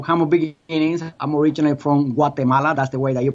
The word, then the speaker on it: Guatemala: I'm originally from Guatemala. That's the way that you pronounce it. Otherwise, you say Guatemala.